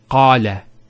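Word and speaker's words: قال: First one here is qala. Notice the elongation of the A sound.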